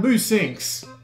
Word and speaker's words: Musynx: i'm here checking out boo sinks i think that's how you pronounce that it's spelled NUS Y and X which is a very weird way to spell it especially since the game